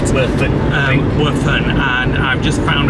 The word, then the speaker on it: Werfen: That's how you say it. Werfen.